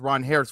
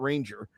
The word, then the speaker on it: Ranger: Only finding out now it's Ron Harris Suarez, not Ranger.